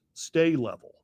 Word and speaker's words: Sta-Level: was called the Gates stay level, which if you go on Google and you search for the value of stay levels, it's spelled STA-level.